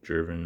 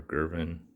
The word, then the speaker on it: Gervin: are which are crazy george gervin or girvin i hear the the last name pronounced both ways seven gorgeous card this